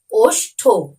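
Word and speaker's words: ওষ্ঠ: উচ্চারণ হবে তখন কিন্তু ঠ এর উচ্চারণটা একটু শেষের দিকে তো হবেই কিন্তু একটু কম ভাবে হবে অর্থাৎ একটু সাইলেন্ট ভাবে হবে তাই আরো একবার তোমরা আমার সাথে সাথে উচ্চারণটি করো অষ্ঠ দেখো বেশি করে কিন্তু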